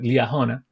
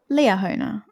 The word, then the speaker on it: Liahona: youth, and then the Liahona, or Liahona. How do you say in English? Leah Honer, I think. Liahona.